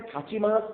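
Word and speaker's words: 立ちます: Thaer মতো বলে, তাচিমাসকে থাচিমাস কেন বলছে। জাপানিজ উচ্চারণে যদি প্রথমে তয়ের উচ্চারণ থাকে এবং কয়ের উচ্চারণ থাকে তাহলে এগুলো একটু জোর দিয়ে বলা হয় থাচিমাস, থাচিমাস। তাহলে থাকতে কারা মানে দাঁড়ানোর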